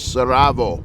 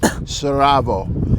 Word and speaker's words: Sarajevo: in what is Sara Bosnians have told me pronounce it like this Sarajevo and so I will pronounce it like that hoping I'm correct but a a gentleman who was Yeah, that's how it's spelled.